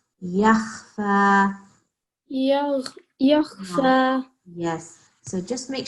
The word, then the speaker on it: يخفى: Okay, it's not yag. This is not ghain. This is kha. Yakhfa.